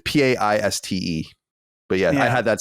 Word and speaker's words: Paiste: And so I never knew actually how to say it. It's Paiste.